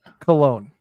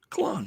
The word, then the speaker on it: Colón: How do you say it? Colón. Colón. Yeah, I did it right. Yeah, you did it right. It's got that thing on the O.